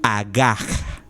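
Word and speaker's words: הגה: Esa palabra en el original que fue escrito, en el hebreo original que fue escrito, es la palabra agaj. Se escribe H-A-G-A-H. Agaj, que significa hablar, murmurar o rugir.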